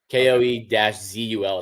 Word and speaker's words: Kozel: KOE-ZUL is how I was told to pronounce it from an Arkansas fan.